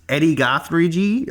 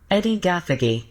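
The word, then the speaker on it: Edi Gathegi: Yes, Eddie Gothrig. I butchered that. Yeah, you even looked up the pronunciation. Are you still on that website? Can you just play it? Yeah, let me play. Here it is. This guy's name. Eddie Gathagy. There you go.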